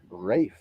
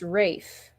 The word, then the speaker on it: Ralph: and I'm looking up, and Ralph is pronounced Rafe. So it's his Yeah, first name. yeah, that's Yeah, the it's first. to rhyme with safe.